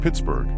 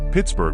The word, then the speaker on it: Pittsburgh: As Forbes was a Scotsman, he probably pronounced the name Pittsburgh, similar to Edinburgh.